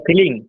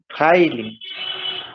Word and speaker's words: filing: Sir, filling. ফাইলিং নট ফিলিং। প্রোনাউন্সিয়েশনটা হচ্ছে ফাইলিং। আবার বলো। Filing.